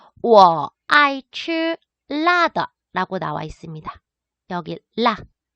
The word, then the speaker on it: 辣: 여기 라. 자, 중국어로 라 라고 사성어로 발음하게 되면은 얘는 맵다란 뜻이에요.